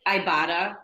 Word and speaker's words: Ibotta: you mentioned one more I like Ibotta I think that's how you say it because I I bought it I saw it the